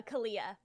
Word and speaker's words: Kahlea: more recently yeah do you think you'll play calia or khalia is how do you say it uh kalia do you think you'll play kalia in uh